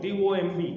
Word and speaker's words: tomb: The word that I have is tomb. T-O-M-B, tomb. B is silent.